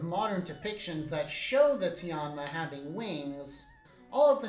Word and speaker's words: Tianma: Next up, we have Sei Tenma, although in Chinese the pronunciation would be closer to Tianma.